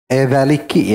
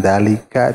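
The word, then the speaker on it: ذَلِكِ: Ra'aitun dzalika bikasril kafi. Dzaliki ya, dzaliki. Li'anal mukhatabata untha, karena yang tadi dibacanya dzaliki, karena yang mukhatabah, yang diajak bicara itu adalah perempuan. Jadi kepada perempuan bukan dzalika tapi dzaliki.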